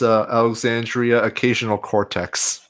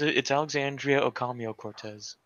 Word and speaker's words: Alexandria Ocasio-Cortez: Yeah, you said her name wrong. Her name is Alexandria Occasional Cortex. Yeah, there was Filthy. No, that's wrong. It's Alexandria Ocasio-Cortez.